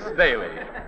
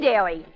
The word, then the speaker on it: Daley: well well well Bailey well now pardon me Mr Amici but you've got my name wrong it's not Dairy it's G daily what's the G for